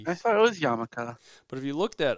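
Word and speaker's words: yarmulke: the spelling of it um it's just basically pronounced yamaka but um hm so yeah he walks off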